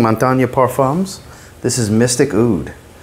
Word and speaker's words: Montagne: I really have trouble pronouncing it because there's multiple ways to pronounce it. Montagne is my understanding, Montagne Parfums.